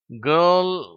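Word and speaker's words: girl: கேர்ள், pearl, கேர்ள். இந்த ஆர் என்ற உச்சரிப்பு தமிழ்ல இருக்கிற அந்த இரு உச்சரிப்பு மாதிரி கிடையாது.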